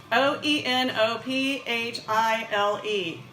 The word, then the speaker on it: oenophile: today's word is baby baby baby it's oenophile o en o ph IL e and that's pronounced oenophile and what i really like about this the